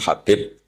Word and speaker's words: Habib: Ada yang nulis Abi Abdurrahman Habib Asulami. Itu di harakatnya kitab itu ada yang nulis khubab. Tapi yang benar Oh, nggih. Yang benar itu bacanya habib. Habib itu sulami itu ikut marga Rabiah itu.